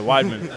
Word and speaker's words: Weidman: Launchpad so every single person knows how to pronounce my last name correctly yeah widman uh no I'm 100% just looking at the